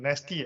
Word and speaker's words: NESTI: I mean, nasty, I think needs to be, for the lack of better, phonetically, it also means nasty with an A, but this is nasty with an E.